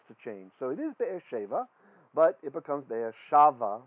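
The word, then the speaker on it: באר שבע: Well, it is Be'er Sheva, but this is in pause. And in the ancient text, one word in each clause gets a louder pronunciation than the rest.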